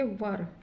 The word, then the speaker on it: were: आ गया है, तो इसका उच्चारण ई नहीं होगा, यहाँ पे अ होगा। तो इसको हम क्या पढ़ेंगे, वर।